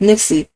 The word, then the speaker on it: Nixe: My name is Nixie, but rhymes with Trixie.